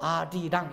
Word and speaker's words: 아리랑: 근데 니을이 다음 음절의 첫소리로 발음돼서 아리랑 이렇게 된 거예요.